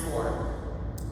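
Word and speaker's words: Scoir: planning program we are now switching over to score it sounds like a square or it's it's spelled like wireless that's c o i r but it's pronounced score we're transitioning all the kids over to that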